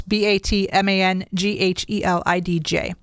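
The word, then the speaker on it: Batmanghelidj: I'm going to try to pronounce it as Batman Galidj. It's Batmanghedlidj.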